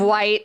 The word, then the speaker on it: Wight: No, you thought it was Wit. Yes, I thought it was Wit. I'm sorry, correction. It's the Isle of Wight. It's the Isle of Wight. Spelled like light, but with the W.